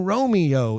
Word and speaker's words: Romeo: call him Romeo later Lord Capulet says Ah Young Romeo is it using all three syllables that's brilliant isn't it just brilliant is the audience sitting there going oh she only used two syllables of course they're not